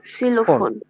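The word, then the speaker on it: Xylophon: সিলোফোন। আমরা ভেঙে ভেঙে যদি সিলোফোন পুরাটার বলতে চাই, কি আসে? সিলোফোন, সিলোফোন এক্স বি সিলোফোন।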